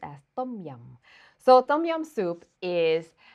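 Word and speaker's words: tom yum: a come home and make it next one tum yum soup or properly pronounced as tum yum so tum yum soup is is for those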